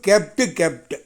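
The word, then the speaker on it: kept: முதல்ல பாருங்கள் கீப்பு, கெப்ட். கீப்பு இதில் இருக்கிற 2 ஈ ஒரு ஈயா மாறி கடைசியில் குச்சிட்டி சேருது பாருங்கள். எப்படி உச்சரிப்பு? கீப்பு, கெப்ட். 2 ஈ இருந்தால் கீ, ஒரு ஈயா அது மாறும்போது கே. அப்போ கீப்பு, கெப்ட்.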